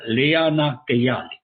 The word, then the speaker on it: Leana Kayali: Leona, I'm sorry I mispronounced your name. It is Dr. Leana Kayali.